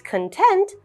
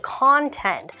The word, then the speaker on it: content: is also content so this is an instance when one word actually has two meanings and two pronunciations even though it's spelled the exact same so our first sentence is she is content with her body you will notice the intonation for Content goes up content she is content